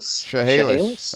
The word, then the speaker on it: Chehalis: I'm looking at this one, Chehalis. Is that how you say it? Chehalis? Chehalis.